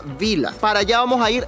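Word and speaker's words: Billa: de mí el supermercado se llama Vila Aunque está con doble l Ya lo hemos escuchado que lo pronuncian los austríacos en su alemán austríaco y se pronuncia Vila para allá vamos a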